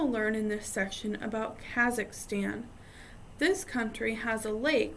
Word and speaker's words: Kazakhstan: at the end so the first one is pronounced Kazakhstan the second one is Kyrgyzstan there's Tajikistan Uzbekistan